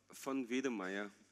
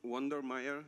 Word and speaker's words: von Wedemeyer: with your surname um fun V Maya fun V all right okay don't say w Wonder Meer it's not correct but excellent so CL